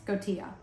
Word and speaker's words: Skotia: Yes, Skotia.